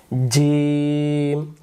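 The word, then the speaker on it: جيم: আমরা জিম অক্ষর শিখবো জিম অক্ষর আমরা এখন উচ্চারণ করব জিম এই জিম অক্ষরটা জিহ্বার মাঝখান থেকে উচ্চারিত হবে এখানে প্রশ্ন জিম অক্ষরে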